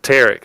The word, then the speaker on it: Pteric: Like a mix between Eric and Peter. Think like pterodactyl. The P is silent. Oh, Pteric.